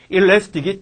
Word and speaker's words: elastic: 엘라스틴이 아니라 일라스틱이 탄력 있고, 좀 더, 레스 스티키 하면 얘는 부정이지.